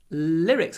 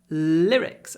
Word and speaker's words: lyrics: apostrophes that song's lyrics lyrics hold the L lyrics and it's quite a short I sound lyrics next next one